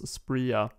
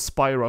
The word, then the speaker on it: Spria: Spria. Thought it was Spira first, and I thought it was a Final Fantasy reference, but yeah.